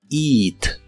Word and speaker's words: eat: eat que significa comer se pronuncia con un sonido de la i larga o doble eat eat y usaremos el